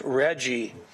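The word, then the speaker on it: RGGI: Regional Greenhouse Gas Initiative with the acronym pronounced Reggie and apparently Reggie was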